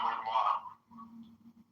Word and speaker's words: Renoir: It's pronounced Renoir.